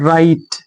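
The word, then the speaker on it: right: जी silent हो, जैसे आर आई जी एस टी, इसे पढ़ेंगे दोस्तों राइट। जी साइलेंट है, राइट, जी एच दोनों साइलेंट है, जी एच दोनों साइलेंट है, भाई जी से मतलब है, तो राइट, राइट।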